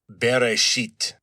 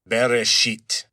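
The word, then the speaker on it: בראשית: and those are pronounced Bereshit. Bereshit. So, not very pleasant. Sounds kind of like bury something unpleasant.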